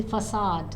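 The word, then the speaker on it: façade: So see, we need to understand, and that the hidden area, the hidden self, the avoided area, avoided self, the facade. This is how we pronounce it.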